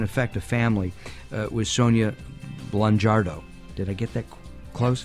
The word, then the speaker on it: Blangiardo: a family with Sonia Blangiardo. Did I get that close? Blangiardo. The I is not pronounced.